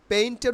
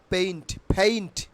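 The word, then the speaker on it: painter: this video ওকে তাইলে পেইন্টের উচ্চারণ কি হবে পেইন্ট পেইন্ট পেইন্ট আচ্ছা পেইন্টা আমরা কি বলতাম পেইন্টার তাই না বাট it will be pronounce পেইন্টা পেইন্টা পেইন্টা পেইন্টা পেইন্টা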